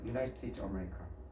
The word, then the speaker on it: United: 뭐냐면 그거는 뭘까요 어딜까요 앞에 United America 할 때 그게 자음일까요 모음일까요 유나이티드 정확히이 발음이거든 이렇게 되거든요 이렇게 되거든요 아마 이렇게 될 거예요 유나이티드 이렇게 되니까 이렇게 되겠죠 유나이티드 스테이션 이거는 자음취급하는 거예요 얘는요 반자음이라고 해서 반점이라고 그래서